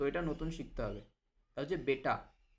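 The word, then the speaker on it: बेटा: বেটা বেটা কিন্তু বাংলায় আমরা ব্যাটা বলি। তো এটা কিন্তু ব্যাটা বলা যাবে না। এটাকে বেটা বলতে হবে।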